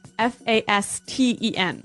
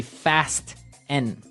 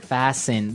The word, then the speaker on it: fasten: It's spelled f a s t e n. Right. So it would be fast n. No. No. Right. Fasten. Fasen. The t kind of becomes silent.